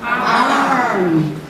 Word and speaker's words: arm: Arm. O M é pronunciado arm. O R é o R do interior. É arm.